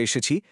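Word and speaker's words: へ: বর্ণমালার হা, হে এবং ও এগুলো লেখার সময় হা, হে এবং ও হলেও পার্টিকেল হিসেবে বাক্যে উচ্চারণের সময় এদের অবশ্যই ওয়া, এ এবং ও উচ্চারণ করতে হবে।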